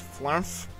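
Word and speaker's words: Flermf: Okay, so this guy right here, his name is Flarmph. You spell it F-L-E-R-M-F.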